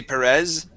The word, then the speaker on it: Perez: Okay, let's practice saying a uh a Z in English. Okay, we say Perez. Perez. Perez with a Z sound. Yeah, you can say Perez.